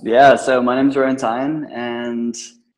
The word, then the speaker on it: Tyne: How do you pronounce your name? That I always seem to pronounce it tiny. Is it Tywin? It's Rowan Tyne, yeah.